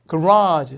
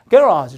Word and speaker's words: garage: 그래서 영국식이 되면 강세를 앞에 줘요. 그래서 보여드리면 이렇게 garage 선생님이 이렇게 배웠는데 미국에서 근데 영국으로 가면 이렇게 강세 앞에 있어요. 그래서 발음이 약간 garage 이렇게 됩니다.